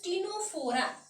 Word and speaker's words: Ctenophora: And this is known as the third phylum is known as टिनोफोरा. देखो एठी जतबे pronounce करूची मु टिनोफोरा कहूची Tame the letter C is silent here.